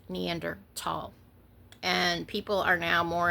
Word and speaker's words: Neanderthal: In English, that would be thal, but they don't have that. It's Neanderthal.